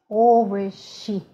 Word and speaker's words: Овощи: it sh, you have to try to whistle it like sh, sh, sh. Can you please practice it? Овощи.